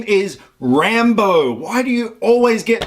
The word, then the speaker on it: Rambo: Dude, seriously, his name is Rambo. Why do you always get people's names wrong? You do this every time. Rambo, it has 2 syllables. Yeah, I know. Rumba.